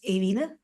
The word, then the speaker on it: Ewine: pronounce your name so my first name is the pronounced as Aina Aina and the last name